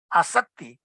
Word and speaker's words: asakti: class on this attachment, asakti. In asakti, the A is long A, and if you don't use it long then if you use it short, then it becomes asakti.